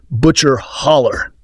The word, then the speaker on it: Butcher Hollow: of grinding poverty in Butcher Hollow, Kentucky, pronounced by locals as Butcher Holler.